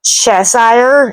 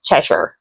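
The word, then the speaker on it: Cheshire: It's not chessire, it's cheshure.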